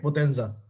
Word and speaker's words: Potenza: is that how you pronounce it? Right. Potenza.